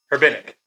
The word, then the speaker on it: Herbinic: You say the H, right? Yeah. All right. Herbinic. Herbinic? Yeah. Okay. Yeah. That's right.